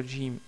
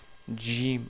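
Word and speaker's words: جيم: Il faut essayer de prononcer Jim au lieu de Jim. Donc c'est Jim, Jim. Vous attachez votre langue au palais.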